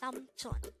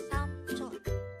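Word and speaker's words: 삼촌: The Korean term for uncle or your parent's brother is samchon. Again, it's samchon. This is pronounced as a two-syllable word. The first syllable is sam, and the second syllable is chon.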